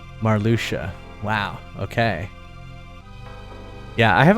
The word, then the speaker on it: Marluxia: There's, how do you get a sh out of that? XAI is sh. I guess, okay, yeah, XIA is sh. Marluxia.